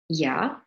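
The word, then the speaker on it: Я: And finally, there was letter Ya, and the way you pronounce it is the way in German you say Ja, like an R backwards, and in Ukrainian it means I, right?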